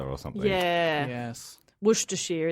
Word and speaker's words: Worcestershire: Worcestershire is Worcestershire. Yeah. They chop out syllables willy-nilly over there.